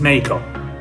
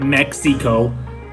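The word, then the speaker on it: México: The X in Spanish does not make the X sound. Sort of a H-ish sound, but not really long.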